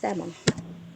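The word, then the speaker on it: salmon: 볼래요 이것도 LM 이잖아 그래서 의외로 발음이 몬이 아니라 L 안 읽어요 그래서 먼이라고 읽어요 먼 그냥 하는 거예요 알죠도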